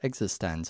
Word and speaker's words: eXistenZ: sneakers and existense which thankfully I know is pronounced existence I used to talk all about that yeah